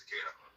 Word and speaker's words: Takeda: The truth of the matter is, Chaeyoung Soo learned Daito Aikijutsu from Takeda, from Osensei Takeda. Like I can't remember how to pronounce his name. Takeda. I'm sorry, it's Takeda.